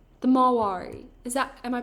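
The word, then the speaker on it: Marwari: See, you can get this short mane on the Maoris. The Mawari. Am I pronouncing that right?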